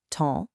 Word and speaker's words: ton: Mon and ton are nasal. Your mouth should be kind of closed and rounded, mon, ton.